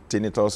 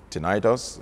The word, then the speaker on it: tinnitus: especially at night or tinnitus or tinnitus depending on which part of the world you are pronouncing it from okay frequent calls and